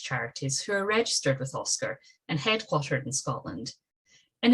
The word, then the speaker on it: OSCR: scottish charity regulator oscr often pronounced its nickname oscar which is the independent